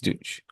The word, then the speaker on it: Deutsch: I'm not sure how do you pronounce that exactly from Flavorah. Chocolate D. douche. It is Deutsch.